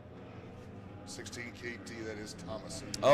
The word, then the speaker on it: Thomasson: All right, so quick little four-cylinder pronunciation. Thomasson 16 KT that is Thomasson.